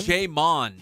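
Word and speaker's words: J'Mon: Hamon. Apostrophe Mon. More. Wait, spell it for me? J. Apostrophe Mon. M-O-N. Oh, Jamon. Jamon. J. I thought you said Hamon, which is ham in Spanish. Jamon.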